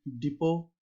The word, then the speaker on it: depot: like in the word depot. Have you seen the word bus depot? DEPOT, the T is silent.